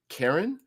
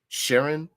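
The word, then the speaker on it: Charon: planets um Pluto and Karen I believe it's it can be pronounced or Sharon or whatever uh Pluto and there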